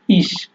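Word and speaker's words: ich: তো ইস, এখানে আপনার উচ্চারণটা স এর মতো হয়ে যাচ্ছে।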